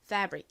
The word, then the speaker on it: fabric: 그래서 이 단어의 발음은 fabric입니다. fabric. 이 fa 부분에 강세가 있어요. 그래서 강조해 주세요.